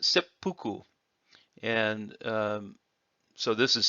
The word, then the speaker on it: seppuku: if you change the order of these it's pronounced seppuku and um so this is setsu and fuku